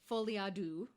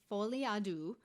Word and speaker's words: Folie à deux: Folie à deux. I think that's how you say it. It's French, so I'm giving it my best shot. Folie à deux, which is a shared psychosis.